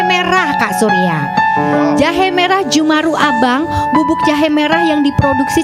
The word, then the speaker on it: Jeumaroe Abang: Bacanya gitu ya, Jumaru ya? Iya, ini Jumaru Abang.